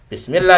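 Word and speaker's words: بسم الله: bismillah bukan bacanya bismillah bismillah dibaca tipis tarqik karena sebelum nya harakat kasrah ya kalau sebelumnya harakat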